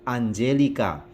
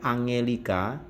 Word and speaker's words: Angelica: pada judulnya salut Axioo anjelika lihat di situ ada tiang diikuti Om maka dibaca Sio salut Axioo laluan jellyka bukan Angelica a&g diikuti vokal e&y maka dibaca C sehingga bunyinya Anjeli k laluce diikuti atau